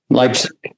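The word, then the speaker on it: Leipzig: Uh let's uh move over to Lipig Germany. How do is that how you say it? Leipig.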